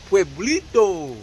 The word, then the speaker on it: Pueblito: a spot called el poblito it's a mexican spot just open it up pronounce it right pueblito pueblito don't come with me